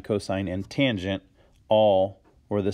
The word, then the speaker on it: cosine: It is short for cosine, which is pronounced cosine. And then tan, that's what you do during the summer.